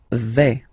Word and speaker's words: vais: Okay, so remember, final S not pronounced here. Je vais. Okay, when you combine this A, I, you get the sound E, really open.